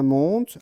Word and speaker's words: monde: Il était une fois dans un monde, alors le E de monde, en fait, on ne le prononce pas.